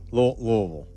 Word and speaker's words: Louisville: Louisville. You got to say it like you're from down there a little.